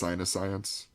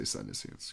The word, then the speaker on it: Psyniscience: I've heard some people say it's Sinuscience. I say Psyniscience because it sounds Yeah, cooler. it sounded way cooler.